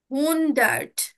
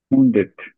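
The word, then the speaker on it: hundert: আমরা কি বলবো সেটাকে হুন ডেট আচ্ছা হুন ডেট না হুন ডেট না ভাইয়া কি বলবো হুন ডেড হুন ডার্ট হুন ডার্ট ডার্ট ওকে হ্যাঁ হুন ডার্ট আপনাদেরকে আউসফ্রাকের যে হচ্ছে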